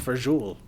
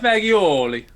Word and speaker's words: fagioli: pasta who would have known it's it's it's pronounced for jewel usually i was like i'm trying to try to sound real italian and i'm like i'll have a bowl of the pasta fagioli uh like uh yeah one pasta visual your